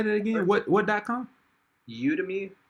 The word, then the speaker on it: Udemy: Udemy, it's like Udemy. How you spell it?